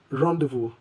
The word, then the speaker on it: rendezvous: The word rendezvous means a meeting or gathering, and the Z and S are silent. So we pronounce this simply as rendezvous.